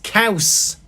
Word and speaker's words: caws: Cheese in Welsh is caws, which is like saying cows, but you got to be a bit harder with it. Caws is Caws.